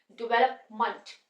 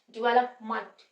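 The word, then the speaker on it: development: यूज हो रहा है यहां पर ध्यान देना है कि ए का यूज नहीं हो रहा यहां पर अ साउंड का यूज हो रहा है डेवलपमेंट डिवेलपमेंट हम डिवेलपमेंट बोलेंगे चाहे एडजस्टमेंट वहां प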